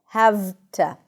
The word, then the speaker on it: have to: So the voiceless consonant kind of says to the voiced consonant, listen, don't work too hard. And the voiced consonant, the V in this case, becomes voiceless. So it's actually easier to pronounce. So instead of saying have to, can you guess what sound it turns into? An F.